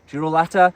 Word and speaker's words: Girolata: Girolata is how you pronounce it.